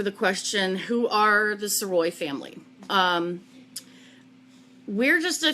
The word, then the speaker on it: Sirois: easier but it is soy that's how it's pronounced um lots of people have asked just think Illinois yeah Illinois exactly um